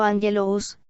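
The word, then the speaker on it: ἄγγελος: La palabra angelología viene de dos términos griegos, a saber, angelos, pronunciado angelous, que significa mensajero o ángel, y logos, que significa palabra, materia o cosa.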